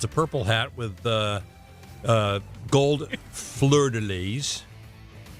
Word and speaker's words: fleur-de-lis: It's a purple hat with gold fleur-de-lis. Is that how you say it? That's excellent. Fleur-de-lis.